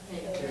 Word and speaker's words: theta: Does anyone remember how you pronounce it? Theta.